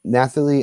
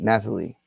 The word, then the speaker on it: Nathalie: kudos to the maith Nathalie Emmanuel I think it's like Natalie but Nathalie I hope I said it right Nathalie Emmanuel for her